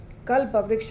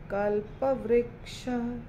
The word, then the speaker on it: कल्पवृक्ष: चिंतामणि प्रकर सद्मसु कल्पवृक्ष कल्पवृक्ष नहीं कल्पवृक्ष।